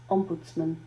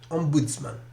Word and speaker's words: Ombudsman: So this is the pronunciation. Ombudsman. Ombudsman.